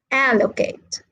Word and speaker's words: allocate: And then the three syllable verbs are stressed on the first syllable, like educate, allocate, all right? And the four syllable words are stressed on the third syllable.